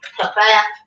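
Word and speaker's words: Pfaff: It's compatible with Baby Lock, Bernina, Brother, Elna, Genome, Pafaf, Singer, and Viking. That's just Faf, I think. Well, I need you to know there's a P though, so you don't misspell it.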